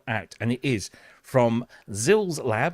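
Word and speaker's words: Xils-Lab: But it is now out, and it is from Zils Lab. I'm told that is the correct way of pronouncing it.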